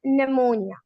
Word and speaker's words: pneumonia: इसी तरह हमारे पास P का रूल मौजूद है, whenever P comes before S or before N, so we do not pronounce P as psychology and pneumonia।